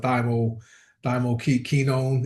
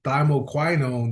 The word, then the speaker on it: thymoquinone: And that's how you pronounce it. I've learned I said it wrong for years. I call it thyo thyo kenone. It's thymoquinone.